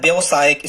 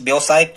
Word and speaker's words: व्यावसायिक: कई बार वहां पर लिखा होता है व्यवसायिक। स्टूडेंट्स, ये बिल्कुल गलत शब्द है। आप जब भी इस व्यवसायिक को पढ़ें तो आप इसे व्यवसायिक बिल्कुल भी ना पढ़ें, आप इसे कहें व्यावसायिक।